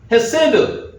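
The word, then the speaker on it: חסד: 이게 뭐라고 읽을까요? 집사님 혹시 읽으실 수 있어요? 헤세드.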